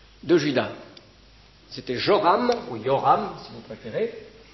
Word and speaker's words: Joram: Yoram si vous préférez en général les les j dans nos transcriptions des noms bibliques correspondent à une lettre en hébreu qui se prononce y en fait donc on peut traduire Yoram on peut dire Yoram le roi Yoram était